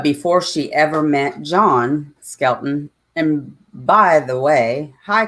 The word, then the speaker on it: Skelton: I was saying the Skeleton brothers.